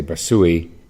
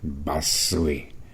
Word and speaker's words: Bassui: I've heard is that the every every syllable gets the same emphasis uh there's no one that's accented over the other so we tend to say Basi Basi but I remember Ro Capital uh always saying Basi Basu and I'm probably not even getting it right there it's so hard not to Accent a syllable I'll start off here